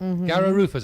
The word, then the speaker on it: garra rufa: massage with fish and these fish are called garrett rufus garrow roofers i pronounced that right caster yes okay thank you